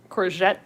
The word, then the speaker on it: courgette: it for the embroidery it's a soft g the the j sounding one so is it like courage that sounds french that would make sense is that the soft g i can't remember courgette and aubergine okay when i think of it as french that makes more sense oh corset courgette all right